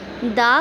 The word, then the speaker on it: the: अब भाई हमारे पास एक और कन्फ्यूजन कि दा को कुछ लोग दी पढ़ते हैं, कुछ लोग दा पढ़ते हैं। अब कब ये दा पढ़ना चाहिए, कब दी पढ़ना चाहिए, ये सीखेंगे हम आज। दी हम तब प्रोनाउंस करेंगे जब ये यूज़ होगा ऐसे वर्ड के साथ कि जिसकी फर्स्ट लेटर का साउंड वोवेल हो।